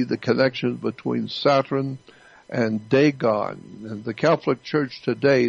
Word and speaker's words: Dagon: the pope he represents the worship of daegon it's spelled d-a-g-o-n dagon dagon is an ancient phoenician canaanite god